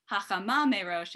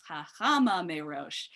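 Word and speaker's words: החמה מראש: that Ashkenazi Hebrew patter, that instead of the ultimate syllable, stress on the last syllable, it's the penultimate syllable, it's the second to last syllable.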